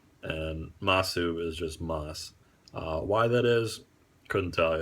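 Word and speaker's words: ます: actually just des and ma su is just moss why that is couldn't tell ya I'm sure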